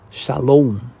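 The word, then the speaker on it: שלום: to me and drink the living water of shalom." You see, kinod is sil but this is pronounced as sha salom.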